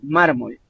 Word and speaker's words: mármol: o vocal por ejemplo mármol si ustedes se fijan son dos sílabas mar y molt y sólo se acentúa en la primera sílaba que es la antepenúltima